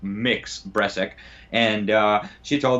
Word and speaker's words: Mx: mix breast sick seriously MX as opposed to Ms pronounced mix Bres ik and she's